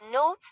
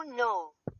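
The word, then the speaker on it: но: Example, tot meaning that o pronounced o as in more or but note that it often softens to when unstressed.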